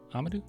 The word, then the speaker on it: Amadou: Amadou.